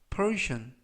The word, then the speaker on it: portion: Persian, Persian, Persian 이라고 발음하시면 되겠고요. 끝부분에 있는 tion, 네 개의 철자가 동시에 션 발음이 납니다.